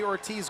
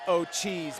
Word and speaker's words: Ortiz: time of the Jeremy Ortiz goal yes I believe in his native tongue it's pronounced oat cheese but for our purposes Ortiz will do one one and a